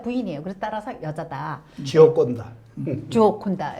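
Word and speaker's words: Gioconda: 조콘다. 예, 정확한 발음. 역시 그쪽에 계시니까 이탈리아, 뭐 스페인 쪽에 있으니까 발음이 그러시네요. 이탈리아 말이에요.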